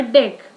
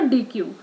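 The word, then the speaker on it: deque: A double ended queue is a short called as a DQ, pronounced as a deck or a DQ.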